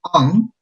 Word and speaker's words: on: Es on, en. Nunca pronuncien i, porque no es i, ese es en. Y esta palabra se reduce a una schwa, es como no es realmente una o, se pronuncia como una o.